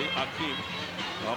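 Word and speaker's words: Hakeem: It's spelled now with an H, Akeem, but it's pronounced as it used to be, Akeem.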